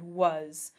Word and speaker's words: was: but we used to it used to be pronounced much more like w Waz like ah but over time it evolved to be pronounced with more of an uh sound was the shift resulted in